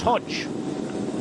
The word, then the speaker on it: Hodeg: as to why his name spelled hodik but pronounced Hodge as you I'm sure aware Hodge isn't a